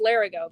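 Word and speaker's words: Lerigot: I know it's Larigo, but that's not how it's spelled.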